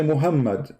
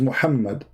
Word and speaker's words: Muhammad: Like now, you say Muhammad, but there's no Muhammad. It is Muhammad.